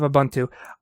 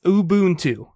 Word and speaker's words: Ubuntu: release that speaking of ubuntu i know how to pronounce it it's ubuntu i understand that i get that but i always say ubuntu when i'm talking about it